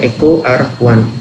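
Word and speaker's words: EcoRI: Jadi nama bacanya ECO R1.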